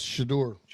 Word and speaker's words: Shedeur: And I think the biggest takeaway from it all, from the entire thing, was Shedeur. Is that how you say his name? Yes, Shedeur.